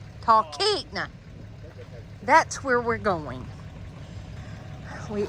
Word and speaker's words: Talkeetna: Talkeetna. Talkeetna.